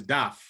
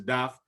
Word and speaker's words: Daph: We're of Haitian descent, so I will say it properly. His name is Daph. Okay, so in Creole is Daph.